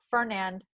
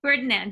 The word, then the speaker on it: Ferdinand: So King Fernand Is that how you say his name? Ferdinand.